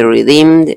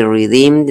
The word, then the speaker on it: redeemed: Generalmente esta consonante se omite, no se escucha pronunciando, para que el inglés sea más fluido. Entonces yo no diría I redeemed man, porque tendría que hacer como una pausa para pronunciar la D y la M. Los americanos lo que hacen es juntarlos. I redeemed man. Ahí no, la D queda a mitad de camino.